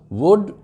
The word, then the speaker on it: would: वुड, WOULD, उसमें भी L silent होता है, और WOULD, L इज़ म्यूट, नहीं बोला जाता, और बाकी को वुड कहेंगे, डबल ओ शॉर्ट।